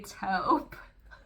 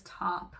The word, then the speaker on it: taupe: Get ready for grope, gray taupe. And that doesn't work if you pronounce taupe as top, which some people do.